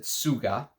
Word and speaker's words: TSVGA: TSVGA is the house. He pronounces it Suga.